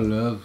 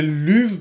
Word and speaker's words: Luv: Ouais, si l'artiste dit que c'est l'uve, ben c'est l'uve.